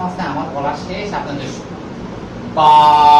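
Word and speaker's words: ب: এর একটি সুন্দর নাম আছে, আমার বলা শেষ, আপনাদের বা। বা বার উচ্চারণ হচ্ছে 2 ঠোঁটের ভিজা জায়গা লাগাইয়া একাধিক টেনে বলতে হবে।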